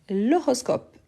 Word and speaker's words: horoscope: ni liaison ni élision super donc oui c'est l'horoscope donc c'est hmé ensuite on a houour